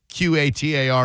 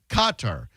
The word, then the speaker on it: Qatar: But in Arabic, the Q is pronounced further back in the throat, similar to a G sound, and the R is often a rolled R.